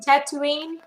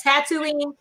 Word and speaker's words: Tatooine: from all right how do you say it is it Tatooine yeah okay I'll make sure I say that right if you're up you ready world's like tattooing Oh wrong never mind I'm moving on